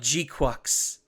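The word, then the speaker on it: GQuuuuuuX: It's Yeah, pronounced like G-Quux.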